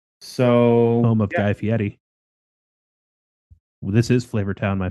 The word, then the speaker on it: Fieri: almost always Fieri. And it's like he must have been on Kimmel or something and said, it's actually Fieri. And now I feel like everyone says the slightly more uppity pronunciation and not Yeah. the other one.